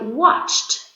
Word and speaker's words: watched: decided and next one I watched TV watched can you hear the T at the end and in the last